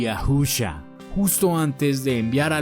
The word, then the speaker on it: Yahusha: Se pronuncia Yahusha.